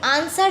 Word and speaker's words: answer: मतलब होता है कि डब्लू जो इसके लिखा हुआ है यह साइलेंट होता है आंसर जब हम बोलते हैं तो आंसर राइट डब्लू हमारे प्रनंसीएशन में हमारे बोलने में नहीं आता है तो साइलेंट लैटर